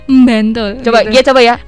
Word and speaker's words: Bantul: Kalau orang Bantul asli itu ada M-nya, Bantul.